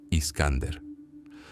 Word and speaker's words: Iskander: Iskander. Esa era la pronunciación oriental de Alejandro, el joven rey macedonio,